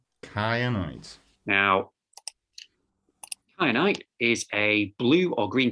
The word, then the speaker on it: kyanite: But the Greek is from K, so it's hard. So it's a hard C. It's a hard C rather than a soft C.